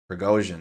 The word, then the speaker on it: Prigozhin: Prigozhin, that's how you say his name.